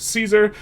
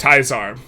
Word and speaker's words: Caesar: top secret game, Project Caesar, aka Project Teaser, but for those of you who know how to pronounce words, it's Project Tizar, and get some great feedback.